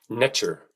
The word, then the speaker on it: Neter: Neter was actually pronounced nature extremely close to the English pronunciation of nature nature observable effects inherent